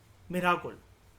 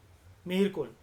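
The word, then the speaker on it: Mihirakula: वो अपने बेटे के द्वारा सक्सीड होता है, मिराकुल। मिहिरकुल या मिराकुल आप उसको बोल लो। ये स्पेलिंग आपको दिख रही होगी, आई थिंक मैं लिख देता हूँ, MIHIRKULA, मिहिरकुल।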